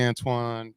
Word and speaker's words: Antoine: They don't call you Anton, do they? Nah, they call me. My mom calls me Antoine. Most people just call me. It's interesting too. Your name is spelled Antoine, right? Yes, I usually say it's French.